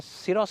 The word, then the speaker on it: Syros: इसको सरोस कहते हैं मैं भी साइरोस साइरोस ही कर रहा था पहले और कि वालों ने बोला आप गलत नाम ले रहे हैं सरोस कहते हैं हम इसको हालांकि जो स्पेलिंग है वो सीवाई बनता है तो सायरस बन जाता है लेकिन एस वाई बनता है तो सिरोस बनता है क्या स्पेलिंग है